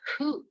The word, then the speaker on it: who: There's no B sound in the word doubt, no G sound in the word sign, no W in who.